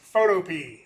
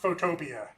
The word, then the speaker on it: Photopea: has confirmed it's pronounced Photopea, not Photopia. Which would have made more sense. But he's like, nah, I've been calling it Photopea, like the vegetable.